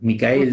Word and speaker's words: Micael: está Micael o como digamos se pronuncia o como lo pronuncian ellos nosotros le diríamos Miguel, pero es Micael en realidad.